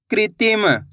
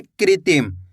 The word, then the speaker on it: कृत्रिम: का में ऋ की मात्रा कृ ती म। तो मिलके बन जाएगा कृत्रिम कैसे पढ़ेंगे कृत्रिम आया समझ में कृ करके उच्चारण निकालेंगे कृत्रिम एक बार फिर से